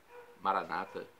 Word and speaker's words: Maranata: os evangélicos ou Protestantes Maranata com a tônica da penúltima sílaba é como eles pronunciam em geral não importa